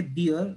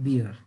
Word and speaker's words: beer: One thing, actually, B-double-E-R, we say beer, but B-E-A-R, bear, okay? So, the right pronunciation of B-E-A-R, bear, or jo B-double-E-R hai, usko hum log bolte hain beer.